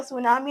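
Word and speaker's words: tsunami: പറയുമ്പോൾ പറയത്തില്ല നമ്മൾ സൈക്യാട്രി തന്നെയാണ് പറയുന്നത് ഓക്കേ ഇപ്പൊ സുനാമി എന്ന് പറഞ്ഞാൽ അവിടെ ടി ഉണ്ട് നമുക്ക് ഒരിക്കലും സുനാമിന്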